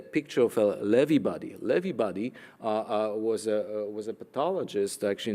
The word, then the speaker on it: Lewy body: in the United States sometimes you know they pronounce it Lewy body I've been told it's actually levee buddy and that that's actually you see those clumps